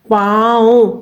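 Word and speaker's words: پاؤ: इसमें हमने हमजा को वाव के साथ मिला के बोलना है। पाऊ हमजा की आवाज आएगी। वाव की आवाज नहीं आएगी।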